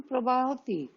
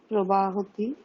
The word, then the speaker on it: প্রবহতি: নদ্যাः জলম প্রবাহতি। হুম। নদ্যাः জলম প্রবাহতি। প্রবাহতি নয়, প্রবাহতি। প্রবহতি।